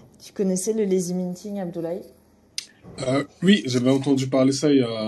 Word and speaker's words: Abdoulaye: Abdoulaye. Voilà, merci, comme ça je prononcerai bien tout du long et forever.